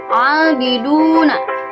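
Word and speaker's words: عَابِدُونَ: Itu ada dhammah menghadapi waw sukun. Kita hukumi sebagai mad tabi'i. Mad tabi'i ini dibacanya panjang 2 harokat. Jadi abiduna, 2 ketukan ya, atau 2 harokat.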